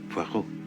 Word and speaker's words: Poirot: No. Poirot. It is pronounced Poirot.